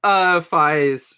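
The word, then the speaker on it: Faiz: It is Fies, right? Like yes, rhyme, and with how it's called, slant rhymes with fives.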